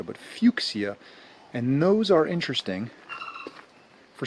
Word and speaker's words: fuchsia: we're walking by some fuxia trees i often mispronounce that as fuchsia because it looks like fuchsia but fuxia and those are interesting